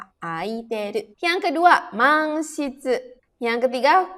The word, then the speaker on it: 空いている: Ya, karena dia bertemunya sama hiragana, tidak bukan dengan kanji. Jadi dibacanya aiteru.